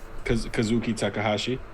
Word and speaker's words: Kazuki Takahashi: So I'm glad we were able to share those in memory of Kazuki Takahashi, right?